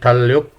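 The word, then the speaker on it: 달력: तो जब हम इसको प्रोनाउंस करेंगे तो एक ही लेटर जो है वो प्रोनाउंस होगा, यानी कि रियल जो है ये एल की साउंड देगा, जैसे ये लफ्ज़ है थाल्योक।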